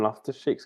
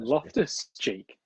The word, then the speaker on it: Loftus-Cheek: Ruben Loftus-Cheek's coming on. You said that really weirdly. You put all the emphasis on the wrong part of his name. What did I say? You Ruben. went Ruben Loftus-Cheek.